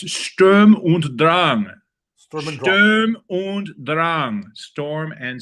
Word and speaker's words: Sturm und Drang: In honor of our vast German population of viewers, whom I adore, it's Sturm und Drang. Sturm und Drang. Storm and strife. I'll press a button and have your pronunciation.